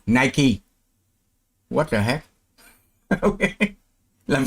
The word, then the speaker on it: Nike: Vậy chữ ở dưới phải đọc là night. Mới đúng với cái phát âm ở trên này, hay và night. Không, Nike.